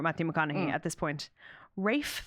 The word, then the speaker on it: Ralph: MCC at this point Rafe fins who I just want to call Ralph so badly do you know this